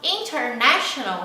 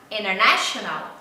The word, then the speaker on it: international: Então, international vai ficar international, international, international. O T ele não é pronunciado.